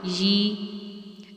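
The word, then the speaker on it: ي: And for first person, instead of I, it will be ya with kasra, and we will pronounce it yi.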